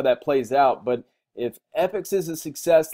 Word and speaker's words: APPICS: you can go to epics comments APPI CS comm from every video that i've ever watched on this platform it's pronounced epics even though it's got an A in there it's so kind of